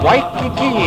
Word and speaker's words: Waikiki: As it is pronounced, thus we say Waikiki in a regular W pronunciation, but we say Iwa as though it were spelled Ava.